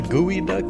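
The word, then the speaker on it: geoduck: gooey duck yeah uh it's spelled geo and duck geo what g-e-o duck g-o duck yeah but they call it gooey duck pacific gooey duck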